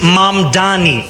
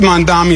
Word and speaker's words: Mamdani: The name is Mom Donnie. M A M D A N I. You should learn how to say it.